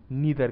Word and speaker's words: neither: का इस्तेमाल करेंगे, नेगेटिवली नीदर का इस्तेमाल करेंगे। इन दोनों की प्रोनाउंसिएशन कई बारी आइदर और नाइदर भी कह सकते हैं, करेक्ट प्रोनाउंसिएशन दोनों ही है, आइदर और नाइदर और ईदर और नीदर।